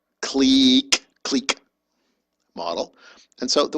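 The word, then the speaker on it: clique: connected click model um this is pronounced click click model and so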